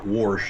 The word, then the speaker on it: wash: Wash instead of wash.